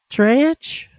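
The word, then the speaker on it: dreich: Ditch. Spell it. D R E I C H. D. Oh, yeah. She would never got that one. Wow. Say it's like a drink day like wet.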